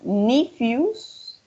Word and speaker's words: nephews: Do you have any nieces or nephews? Nephews. Sí. Nephews. Sí. Siempre que vean la E y la W como new, como el adjetivo nuevo, va a sonar como una IU, right?